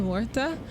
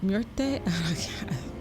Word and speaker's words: Muerte: Boss ability, Santa Muerta. I said it wrong. Muerte.